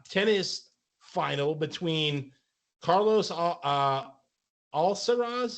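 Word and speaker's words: Alcaraz: final between Carlos uh alsaras is how you pronounce it I believe it algorize like Alcatraz but different and Djokovic yeah whatever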